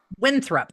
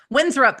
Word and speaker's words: Winthrop: He plays um you know he does win is it Winthorp? I always thought it was Winthrop. Winthrup. Okay. Then I always say it wrong. Winthrup in the Music Man opposite Christian Chennowith at the Hollywood Bowl.